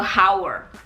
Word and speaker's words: hour: bukan a honest Man bukan karena hanya silent sama dengan an hour bukan a hour Hnya itu Diam tidak diucapkan Oke an hour jelas